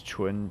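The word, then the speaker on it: 纯: I know it means pure, but I'm pretty sure it's pronounced chun. Yeah, it's chun, pure, unmixed.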